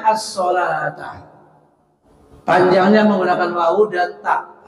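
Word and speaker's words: الصلاة: Tapi cetakan Arab sana pakai wawu, as-solauta, seolah-olah as-solauta, tetapi membacanya as-solata.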